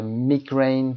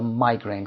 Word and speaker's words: migraine: تلفظ مایگرن دو حالت داره، میگرین و یا مایگرین که هر دو صحیح هست.